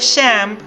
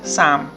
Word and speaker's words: Shemp: mou y ser aun el apodo de sem se debe a que su madre pronunciaba con esa fonética el apócope de samuel samp con un pronunciado acento lituano su verdadera profesión era